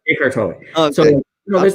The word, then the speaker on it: Eckhart Tolle: And then line with like the Eckhart Tolle, whatever, I'm getting his name wrong. Eckhart Tolle. Eckhart Tolle.